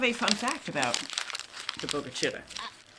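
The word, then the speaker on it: Bogue Chitto: There's a lot of chalk Indians down here, meaning big creek or large stream, and it is pronounced bogacitt.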